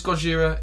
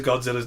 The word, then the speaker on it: Gojira: It's like it's Godzilla, it's Gojira, it's just a different. It translates differently. There's no correct answer.